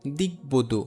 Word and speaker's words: দিগ্বধূ: যেমন দেখো দিগ্বধূ, এইখানে বফলার উচ্চারণ 2 বার হচ্ছে না।